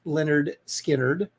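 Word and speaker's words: Lynyrd Skynyrd: no okay so it that was author album pronounced Leonard Skynyrd pronounced Leonard Skynyrd and that is Freebird of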